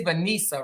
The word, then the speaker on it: Vanessa: It's Vanessa, right? You could pronounce the same way. You know, my mother tried to be creative. It's VE instead of VA, so you know it's pronounced Vanessa, but it's still the same thing.